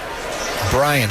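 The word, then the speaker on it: Braian: it appears to be Brian Salazar. And if you're scoring at home, which, by the way, if you're scoring at home, we might need to have a talk. It's spelled B-R-A-I-A-N. Brian, a lefty.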